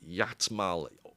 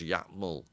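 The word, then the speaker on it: Iatmul: study a tribe that I think Bateson called, I'm trying to remember, the Yatmal, a capital I, A-T-M-U-L, and I think it's pronounced Yatmal, but which refers to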